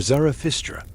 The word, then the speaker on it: Zarathustra: The name comes from Zoroaster, or Zarathustra, in the original Persian pronunciation, a prophet, a teacher, a reformer of ancient beliefs.